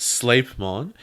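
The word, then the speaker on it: Sleipmon: want etymology for you sleep on is pronounced sleight mon and it comes from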